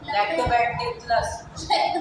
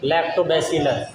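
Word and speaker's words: Lactobacillus: लैक्टोबैक्टरस। 1000 बार इसने आज क्लास में नाम लिया ना, फिर भी नहीं बोल पा रहा। मैंने बताया था 10 बार से। लैक्टोबैक्टरस नहीं, लैक्टोबैक्टरस। लैक्टोबैसिलस।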